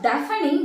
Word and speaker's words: deafening: So that is not deafening. The spelling is D-A-F-E-N-I-N-G. But we should not pronounce as deafening. The right pronunciation is deafening.